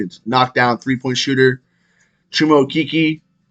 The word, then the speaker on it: Okeke: And his name is now no longer Chuma Okeke, it's Chuma Okeke. We've all been saying his name wrong. He just informed everyone that it's pronounced Okeke.